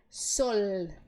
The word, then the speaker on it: sol: mas não no espanhol a letra L é sempre l então eu vou te pedir que você faça uma uma força maior para pronunciar esse L tá el viento del Norte e El Sol vamos lá isso bota força porque a tendência você transformar em U por causa do português tá sol tuon Disc aqui